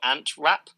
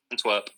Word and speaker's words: Antwerp: i don't know belgium team i had royal ant rap i think it's how you say it antwerp antwerp yeah um who featured in my under-23s